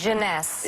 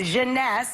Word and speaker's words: Jeunesse: How do you pronounce this? Jeunesse. Jeunesse.